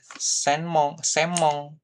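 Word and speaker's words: せんもん: Kemudian kalau ada kayak gini nih, senmon ya kan? Senmon itu adalah biasanya bacanya jadi semong gitu ya, semong gako gitu ya, seperti itu.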